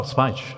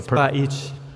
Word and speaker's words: Spajić: Oh, Spajić. Okay. Spajić. Well, I have Greek pronunciation and Italian.